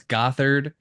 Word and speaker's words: Gothard: so I think that may be an understatement of our views, but nonetheless, it's Gothard. However, it's obviously spelled got hard.